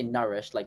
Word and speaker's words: nourish: Long Nourish. U, nourish. Yes. Yes. Oh, So- you Okay. pronounce both vowels, but not especially elongate either of them. Oh, okay. Yeah, we say nourished like with a short U.